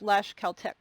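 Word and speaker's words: Tlaxcaltec: speaker to understand like there's a word that's spelled t-l-a-x c-a-l-t-e-c and then he'll say it's pronounced lash caltech so he'll he'll give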